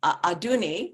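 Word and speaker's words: Adunni: is very important in this book, because as Aduni, which is how to say her name, the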